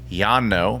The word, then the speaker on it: Llano: it is pronounced Lano a lot of Texans pronounce it Lano however the original word Yano means like a grassy plane in the southwestern United States it's a Spanish word so not sure if